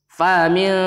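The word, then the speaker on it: فمنكم: Nah, di situ ada ikhfa juga pada kalimat faminkum. Nah, itu kayak seolah-olah suara eng di pada kata faminkum. Nah, itu baru dengung dan dibacanya samar karena hukum bacaannya adalah ikhfa.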